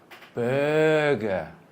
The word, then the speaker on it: burger: Yeah, and again, 2 dots, double length. This one is schwa. Normally, it occurs at the end of all nouns, almost all nouns, of 2 or more syllables. Normally, the stress, the sílaba tónica, on a noun of 2 syllables is normally on the first one, okay? And normally, the second one changes from the normal sound or to the schwa, okay?